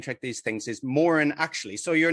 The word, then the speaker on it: Moran: It's Moran, actually. And, it's fine, completely fine for people not to know how to say it. But so that's Moran, actually, that comes from me saying, actually, it's Moran.